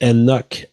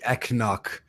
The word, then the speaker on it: Enoch: So he wants me to explain that Mike Enoch is how you pronounce it, but you Mike got Enoch. it earlier, I think. Yeah. I was reading it Mike Eknock.